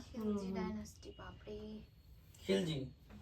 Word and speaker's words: খিলজি: খিলজি আলাউদ্দিন সবচেয়ে খলজি বলে না, না, খিলজি বলে। ওদের নাম জালালউদ্দিন খলজি তো। খলজি খিলজি একই হলো। একই ব্যাপার, মানে বাংলায় ওটা উচ্চারণ খলজি।